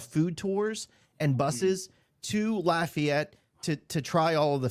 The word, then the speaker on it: Lafayette: Lafayette, like Laffy Taffy.